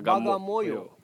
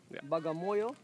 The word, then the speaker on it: Bagamoyo: today we are at a gamma moyer bagamoyo for the first time in last three days i have pronounced it correctly yeah we came to